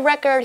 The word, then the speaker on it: record: 所以 record 就是记录的意思哦。那我们英文里面说打破记录就可以直接说 break records。那 the word record here is used as a noun, but we can also use it as a verb. And when it's used as a verb, it's pronounced as record, which means to keep